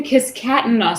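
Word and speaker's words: Kiskatinaw: I think it's called the Kiskatana songs. Kiskatana. Okay, sorry. I put Yeah. the emphasis on the wrong syllable.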